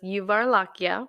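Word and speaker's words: γιουβαρλάκια: so first tell me you told me how to pronounce the way you say it in Greek so it's yuvar lakia which is the meat you varlakia Avro limono so me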